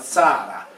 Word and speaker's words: Tiara: Se utilizziamo però la linguistica sappiamo che quella T + I più vocale ad inizio di parola si pronunciava come la nostra Z sorda. Quindi Tiara diventa Zara come il cognome sardo di Zara o di Zara.